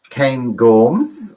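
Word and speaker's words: Cairngorms: it's loch lomond and the trossocs and the kane gorms i think i pronounced that okay didn't i duncan yeah thank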